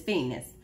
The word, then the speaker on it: Phoeniceus: It sounds like penis, but it's Phoeniceus.